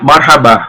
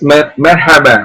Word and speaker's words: merhaba: So Arabian marhaba, marhaba. So the pronunciation is merhaba, merhaba. Is same lah with Arabic language.